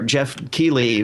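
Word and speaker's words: Geoff Keighley: off of dorito gate from last year where jeff keeley got that's how you pronounce his name got absolutely shat on for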